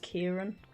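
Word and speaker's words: Ciarán: It's spelled Kiaran, like with a C, but I think it's pronounced Kieran.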